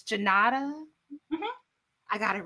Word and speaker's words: Junauda: a name and then just I see the syllables in my head and then I redo it. But it's Junauda.